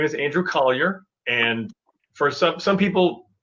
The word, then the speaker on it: Colyer: some some people uh have a hard time pronouncing my last name because of the spelling so i i always say to people think call your mom think call your dog and then say andrew collier and then you'll get